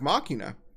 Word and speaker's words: Machina: And I said, well, it should be machina based on the katakana.